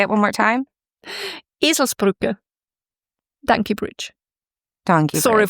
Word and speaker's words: Eselsbrücke: Eselsbrücke. Donkey bridge. What is it? A donkey bridge. A donkey bridge? Mm-hmm. This is my new favorite thing. Tell me again how to pronounce it. Eselsbrücke, which means if you're stupid like a donkey,